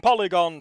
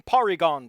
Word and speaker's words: Porygon: No, wait, I have to say it right. Fighting Porygon Team, because that's how I always heard it.